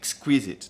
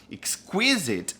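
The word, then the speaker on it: exquisite: requintado requintado a gente diz tá olha a pronúncia dessa palavra Pois é só que esquisito em inglês não é squeezets tá squisit é requintado E aí você quer falar é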